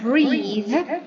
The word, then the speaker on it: breathe: So breath is a noun, and we pronounce breathe as a verb. It's different pronunciation.